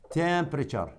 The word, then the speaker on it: temperature: temperature التي يو يلفظ صوت التشي. temperature.